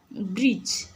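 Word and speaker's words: bridge: सेपरि ब्रिज ब्रिज रे पिला माने देख बी आर आई जी E spelling आसुछि डी टी हमरो साइलेंट रहउछि एठी डी होछि तुमरो साइलेंट लेटर।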